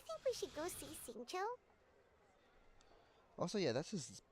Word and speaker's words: Xingqiu: His brother asked the funeral parlor to keep this a secret, but technically the information did leak from Xingqiu, that his brother had contacted the funeral parlor,